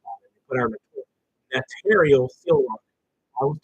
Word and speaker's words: notarial: So the correct pronunciation is notarial.